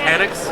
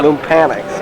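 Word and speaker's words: Loompanics: But Lumpanics, is that how you pronounce it? Lumpanics? Lumpanics, yeah. Lumpanics, yes.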